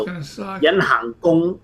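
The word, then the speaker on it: gung: gong means the bow. All right, like G-U-N-G, almost same Gong.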